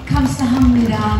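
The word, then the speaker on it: 감사합니다: Yes, let me say, kamsahamnida, Mr. Michael Kim, for inviting us all here today. Did I pronounce that correctly, sir?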